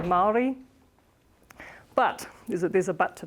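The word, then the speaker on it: Māori: It's pronounced Maori here. I think a lot of it's a pronunciation, but we say Maori.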